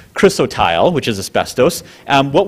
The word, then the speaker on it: chrysotile: which is a mineral crystalite chrysotile excuse me I always say it wrong she always gets mad at me chrysotile which is asbestos um